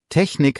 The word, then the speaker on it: Technik: Kleine Aussprachehilfe für CH, weil viele stolpern bei Technik. Nach einem I oder E ist das weiche CH, wie innig. Nach A, O, U ist es hart, wie in Buch. Technik hat das weiche CH, also nicht SCH.